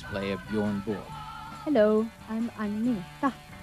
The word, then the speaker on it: Agnetha: Hello, I'm Agnetha. I know it's very hard for you to pronounce, but you can say Agnetha or you can say Anna.